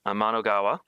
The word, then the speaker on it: Amanogawa: When I go to say her last name, I think of Anamanaguchi, which is a band. But Amanogawa, and she sang a